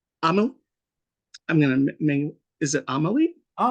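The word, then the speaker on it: Amélie: I'm gonna is it Amelie? I Amelie, always perfect. Nailed okay it. Yes.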